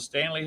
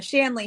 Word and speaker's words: Shanley: about something called the Stanley Hotel. The Shanley Hotel. Shanley. Yes. Oh, okay. I've been mispronouncing it all this time. The Shanley. Yep, it's the Not Shanley. Stanley. Nope.